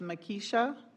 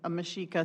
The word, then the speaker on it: Mashika: Um, I have Makisha Masika. I'm sorry, Mashika. Thank you. Go ahead, please. Sorry, I mispronounced it. No worries. Uh, my name is Mashika and I'm an AI ethicist.